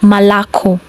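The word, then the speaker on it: молоко: Example: malako, malako.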